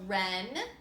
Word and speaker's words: wren: short finger all right these words all are gonna have some silent letters in them the first ones have silent double use you need to match the word to the picture we have a wren wrists and reap the bath